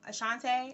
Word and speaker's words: Ashante: pronouncing my name wrong Ashante I'm like they be calling me I mean my name comes from the Ashanti peoples that's acceptable variation but some of those